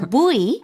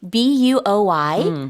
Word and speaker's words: buoy: Buoy, 부이. B-U-O-Y, so buoy, or some people go with a closer to boy, kind of like boy, girl, boy.